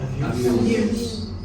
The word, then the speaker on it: abuse: Abuse. Abuse. Let's say as a noun. Abuse. Abuse. Right? Yeah. So as a noun, you pronounce it with as a verb with a Z sound.